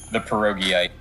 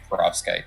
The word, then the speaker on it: perovskite: All right, I should look for the pierogiite. That is not how you pronounce it. It's perovskite, but I'm gonna call it the pierogi.